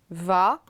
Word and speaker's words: vas: La prononciation est identique, mais attention, le tu a ici à la fin un S qui n'existe pas à la troisième personne.